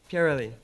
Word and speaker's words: Pyareli: How do you pronounce it? Pyareli.